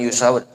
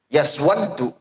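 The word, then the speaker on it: يسودّ: Bukan yusawad. Yaswaddu itu bacanya.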